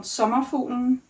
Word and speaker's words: Sommerfuglen: I'm having a hard time pronouncing it. It's called Sommerfuglen and it means butterfly.